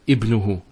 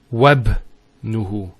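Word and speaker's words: ابنه: So we pronounce it Ibnuhu Muhammadun. If say we put a waw there, Wabnuhu Muhammadun.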